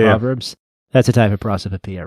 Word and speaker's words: prosopopoeia: Yeah, so it's Prosopopoeia, prosopopoeia. Very similar to onomatopoeia.